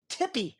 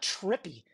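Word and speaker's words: Tippie: Well, first of all, her name is Tippy, not Trippy. Just in case you didn't catch my phone says T-I-P-P-I-E. Yeah, that's Tippy.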